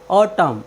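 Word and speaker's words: autumn: उच्चारण का नियम है यदि किसी वर्ड के अंत में एम एन आए तो हम एन का उच्चारण नहीं करते हैं जैसे यू टी यू एम एन ऑटम ऑटम मीस होता है पतझड़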